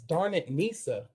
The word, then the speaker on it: Darnisa: everybody's great with names people remember it as darn it nisa okay but you know